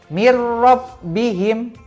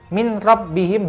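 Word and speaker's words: مِنْ رَبِّهِمْ: bertemu dengan huruf rok cara bacanya sama tidak didengungkan yaitu mirrobbihim contohnya mirrobbihim tulisannya Hai Min robbihim tetapi tidak dibaca Min rabbihim begitu saja tapi harus masuk ke huruf rok mirrobbihim ya seperti itu jadi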